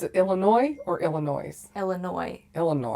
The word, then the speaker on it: Illinois: Illinois or Illinois Illinois Illinois the S is silent so she's from Illinois and her grandma and